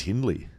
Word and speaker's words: Hindley Street: Hindley Street. Right. Street. I thought it was Hindley. No, it's pretty sure it's Hindley.